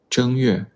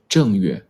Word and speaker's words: 正月: Option A, 正月. Option B, 正月. Which one is correct? Which tone is the correct tone for the first character? Option A. The first character is pronounced with the first tone.